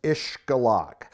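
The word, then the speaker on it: Xcalak: up past uh north of cancun so that's ish galak now uh ishgalak takes a little bit more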